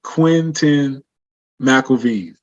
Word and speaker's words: Quentin McElveen: You can just type in Quentin McElveen. Can you spell that? Active on there. Sure. QUENTIN. So it's Quentin. And McElveen is MCELV as in Victor, EEN. So Quentin McElveen.